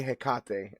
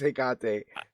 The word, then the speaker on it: Hekate: Um, and yeah, it's a damn shame I can't that I cannot pronounce this, but I want to say Hekate. I think you're right. I think it is Hekate, right?